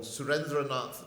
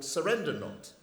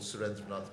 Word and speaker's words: Surendranath: an Indian sergeant called Surendranath Banerjee. But obviously, being British, they cannot pronounce names longer than one syllable. And so Surendranath is called Surrendernaut.